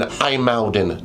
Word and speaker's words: IJmuiden: We are in Aalden today. I know. I didn't think that's how you would pronounce that word either.